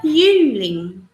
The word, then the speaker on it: Jüngling: Can you pronounce it? Yeah. Bester Jüngling.